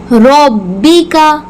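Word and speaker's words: رَبِّكَ: रब्बी का रब्बिका। र को पुर करके मोटा करके ही पढ़ेंगे।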